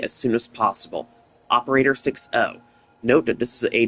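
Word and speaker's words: 6O: So, the name pronunciation is 6, not 60.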